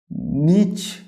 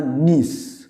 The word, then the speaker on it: niche: না, এখানে both pronunciation আর correct. নিচও বলা যেতে পারে বা নিসও বলা যেতে পারে।